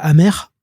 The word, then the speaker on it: AMR: Simon Hutt en solo, qui s'appelle Amer, et qui s'écrit AMR.